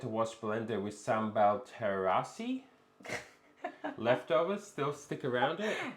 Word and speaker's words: terasi: Speaking of capsicum, my leg and arm is burnt because I had to wash blender with sambal terasi.